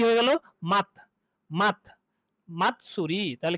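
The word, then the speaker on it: 祭り: মাত, মাতসুরি।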